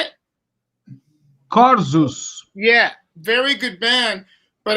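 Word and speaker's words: Korzus: I think they're called Corazon. I think they're very good, but outside of, how do you say it? Corzus.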